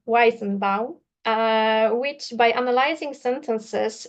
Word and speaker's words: Weizenbaum: Eliza is a chatbot created in 1966 and by Yuzef Joseph Weizenbaum. I'm sorry, I have this well, always this feeling to write uh uh Jewish names with uh Polish pronunciation, sorry. Um so, Weizenbaum.